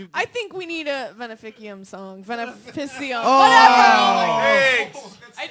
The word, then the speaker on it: Veneficum: I think we need a Veneficum song. Veneficium. Oh, Whatever. I did you it. guys sounds like winners. Oh, say it for me again. Veneficum. Veneficum. Okay. Veneficum? Veneficum. It's a hard C.